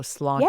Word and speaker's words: sláinte: Okay, so slán. So it's more like lawn. So sláinte. Yeah.